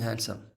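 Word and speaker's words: handsome: हैंडसम, यू are looking हैंडसम। तो यहाँ पे डी साइलेंट पढ़ेंगे और ये हो जाएगा आपका हैंडसम। ये है, एच के लिए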